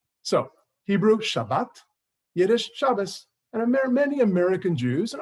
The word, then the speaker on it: Shabbos: Traditional Jews will say good Shabbos, right? Same word, a couple of letters were changed.